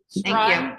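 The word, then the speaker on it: Streim: Strime Drive, During- how's it pronounced?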